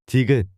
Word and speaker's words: 디귿: This is pronounced like a soft D in dog or T in T. 디귿.